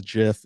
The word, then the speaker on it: GIF: he says it's a gif it's called a graphic interchange format it starts with a hard G so therefore GIF starts